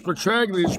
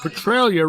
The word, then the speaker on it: Petraglia: Petralia's name was spelled the same as Petraglia's, but it sounded different. He used a silent G and called it Petralia rather than Petraglia.